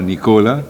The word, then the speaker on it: Nicola: Court honorable Nicola sometimes I have a little uncertainty Nicola or Nicola but Nicola is the correct pronunciation honorable anarie Smith honorable